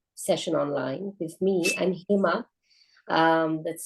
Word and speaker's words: Hema: online with me I'm himma um that's spelled h m a if you imagine a why in the middle of that it's literally hey Ma that's how I say my name uh we have Claudia